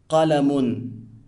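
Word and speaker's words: قَلَمٌ: Now, the un sound at the end of the word is known as tanween and renders the word indefinite.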